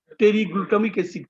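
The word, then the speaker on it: pteroylglutamic acid: Folic অ্যাসিড হলো টেরিগ্লুটামিক অ্যাসিড, পি দিয়া উচ্চারণ, পিটা উচ্চারণ নাই, পেটেরিওগ্লুটামিক অ্যাসিড, পেটেরোগ্লুটামিক অ্যাসিড।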